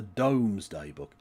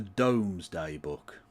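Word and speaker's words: Domesday Book: You read the phrase because that is how it's spelled, but it's pronounced doomsday book. That's always the way it's been pronounced. The Dome's Day book.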